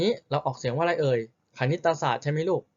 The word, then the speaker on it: คณิตศาสตร์: คณิตศาสตร์ ใช่ ไหม ลูก คณิตศาสตร์ อ่ะ อ้าว แต่ นอก จาก เรา จะ ไม่ ออก เสียง รอ เรือ ที่ อยู่ ใต้ ไหม ธนาคาร แล้ว เรา ไม่ ออก เสียง ตัว ไหน ด้วย ลูก ตอ เต่า ด้วย อ่า อ้าว นี่ เอง